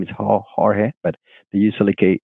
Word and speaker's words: Jorge: hollyood from California so in Italians they don't pronounce AG in general the maximum my name is horge but they usually say Hollywood it's not Hollywood